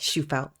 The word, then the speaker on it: Shufelt: today I give you shufelt is that pronounced properly yeah yeah which is the last name shufeld she fell okay so this is again not a fitness